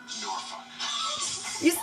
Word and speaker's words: Norfolk: Norfolk.